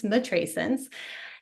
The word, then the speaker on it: matrescence: It rhymes with adolescence, matrescence.